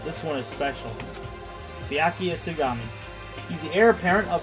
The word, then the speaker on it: Togami: But then they went two steps back and mispronounced Sakura and Byakuya's last name as Ogumi and Togumi instead of Ogami and Togami.